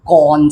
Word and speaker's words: 翰: 咁而佢嘅聲音呢，我哋呢就係讀個幹字，即係等於好有財嘅能幹嘅幹咁嘅讀音呀其實呢